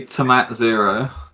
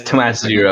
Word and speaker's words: Tomat Zero: It's actually Tomat Zero. Yeah, it's Tomat Zero. Technically. It's the only acceptable pronunciation.